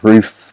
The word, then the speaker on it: Ruf: Here we are now in the Ruf Mayhem event. Yes, it's pronounced Ruf because it's German. You pronounce the U as a sort of oo sound, so Ruf.